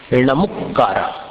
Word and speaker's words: नमुक्कारा: गई टीका है, उसमें नमुक्कारा ये पाठ है। ए याण न, फिर बाद में म में ह्रस्व उ की मात्रा, नमुक्कारा, भवे भवे मम सुहन दिंतु, ये इसका उच्चारण है।